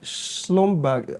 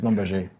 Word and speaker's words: Schlumberger: My very first MC job was by Schlumberg. I don't know if I'm pronouncing it right. Schlumberger. Thank you very much.